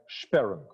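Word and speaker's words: Sperrung: German origin it calls sharun this word should be should be pronounced like sparing sudden arrest of the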